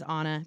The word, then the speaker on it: Ana: differently but I apologize you deserve the respect of your name pronounced correctly it is Anna but we're going to